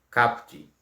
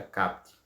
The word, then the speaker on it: caput: Então, CAPT. A gente não pronuncia às vezes com o som do U, então fica CAPT, né?